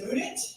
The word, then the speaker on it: Mudit: My name is Mudit. That's spelled M-U-D-I-T.